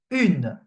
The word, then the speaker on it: une: However, U and E is pronounced une. Okay? For this one, you pronounce each letter basically separately. The U and the N are pronounced separately.